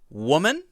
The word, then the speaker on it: woman: for these two it's woman whoa men and women women women woman and women I know that's a little difficult to hear but the difference here is in both vowel sounds the first sound is